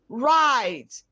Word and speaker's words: write: can we have words with the following letters r road rapid rr marriage lorry wr wrong write w-r-i-g-h-t not r i g ht well let us w is silent r h rhyme rhythm